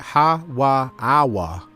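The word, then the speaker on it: Hawwah: Ha-wa-awa is how you say Eve's real name, and it means life. Ha-wa-awa.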